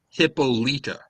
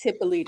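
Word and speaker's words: Hippolyta: It's it's Hippolita. Yes, is the actual Greek pronunciation. And I was just like it's Hippolita.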